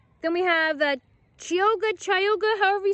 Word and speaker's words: Chioggia: for the 85th seed not sure how to say it chayoga chogya chop there's the name those are the beats okay i looked it up kyoja is a pronunciation on my last beat